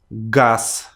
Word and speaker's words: газ: So you too from now on should not say these letters in the very endings of words, but you need to change them on their voiceless pairs, their counterparts from column 2.